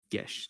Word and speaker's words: geas: Tell me, are you familiar with the concept of a sort of enchantment called a Geas? Gesh, technically, actually, I think is how it's pronounced out of character, but I do not know the details of it, but yes, I've heard of it.